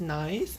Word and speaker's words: Nice: It spells nice, but it pronounced Nice, I believe, because it's a French word.